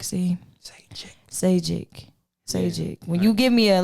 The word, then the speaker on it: Zajikc: But everybody, make sure you support Zajikc. Did I say it right? No. Zajikc. See? Zajikc.